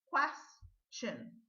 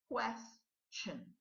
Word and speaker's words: question: their separate ways okay which it could be pronounced as chin okay but this word is one of them so let's go ahead question question but the important thing we're not saying we're